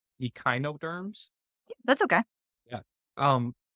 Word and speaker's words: echinoderms: So, um, one one thing that I was curious about the I I guess I was pronouncing it wrong. It's echinoderms.